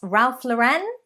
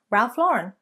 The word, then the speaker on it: Ralph Lauren: Number 11, it is not Ralph Lauren, but it is, in fact, Ralph Lauren. Ralph Lauren. Ralph Lauren, not Ralph Lauren.